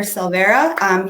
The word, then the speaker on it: Silvera: So one more time, this is Silvera. He was from, is that how you pronounce it?